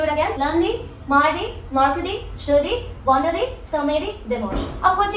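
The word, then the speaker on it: jeudi: Thursday का है जुदी, okay, Z sound वाला।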